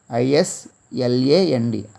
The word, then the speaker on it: island: I-S-L-A-N-D, island. Island, not Island, island. That is why S is silent in this letter, in this word.